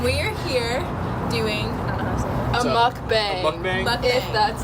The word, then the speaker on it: mukbang: food friendly and we are here doing a mukbang that's how you say it so what a